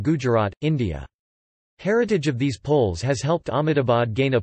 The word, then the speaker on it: pol: numerous places of worship a pole pronounced as pole is a housing cluster